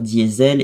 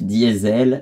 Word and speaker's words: Diesel: crois, inventés par Rudolf Diesel. C'était vraiment son nom. Enfin, en allemand, je crois que ça se prononce Diesel, il me semble, mais... Du coup, en français, on l'a prononcé diesel par la suite.